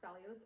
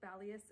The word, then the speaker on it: Balios: I swear to God, if it's pronounced Balios, I'm gonna freaking jump off the same cliff Tessa did. I finally looked it up. Apparently it's pronounced Balius and Xanthus, even though it's like with an O.